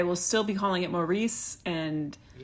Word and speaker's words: Maurice: Um, you know, in America we actually spell it without the U, and it's Maris.